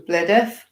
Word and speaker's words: Blidworth: Like there is a place in Nottinghamshire called Rainworth, and some people would call it Reneth. And they were saying with Blidworth, and it was Blideth.